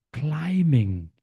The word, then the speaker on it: climbing: Nah, ini teman-teman bom bom climbing climbing. Semua B yang ada di sini tidak dibaca.